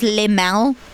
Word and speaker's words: LMAO: Am I the only one that says limao? Like LMAO pronounces it as limao?